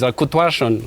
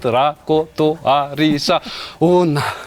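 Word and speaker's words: Rakotoarisaona: Mine is Rakutuarshan. When I pronounce it, it's short, but if you read it, Rakotoarisa Ona.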